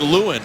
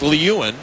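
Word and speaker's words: Lieuwen: just been told that the correct pronunciation of the goaltender for Buffalo is Nathan Lewin. The NHL Guide and Record Book phonetically said it was Lewin, but I'm told that it is Lewin.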